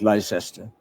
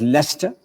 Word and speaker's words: Leicester: The Americans still call it Leicester. Magdalen, M-A-G-D-A-L-E-N, Magdalen College. Now, I'll give you the correct pronunciation. The first word is spelled as Worcester. The second word is pronounced as Leicester and not Leicester.